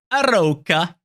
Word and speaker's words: Arouca: to do it right how to pronounce aroka aroka that's how it is so this is the